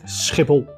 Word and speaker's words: Schiphol: skle scle so there it is the correct pronunciation of the Dutch largest airport skle if you like this video you can uh